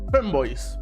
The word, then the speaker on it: femboy: Que obviamente la palabra boy, en principio, la forma en la que se pronuncia, la forma en la que se dice es con boy, como si fuera una I, ¿ok?